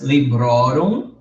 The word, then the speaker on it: Librorum: O index, librorum.